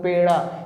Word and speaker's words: पेड़ा: ऐसे होती है स्पेलिंग, PEDA लिखा होता है, तो कई बच्चे इसको पढ़ते हैं पेड़ा, पेड़ा, गलत है, क्योंकि पेड़ा नहीं होता, डॉ को आधा करना है।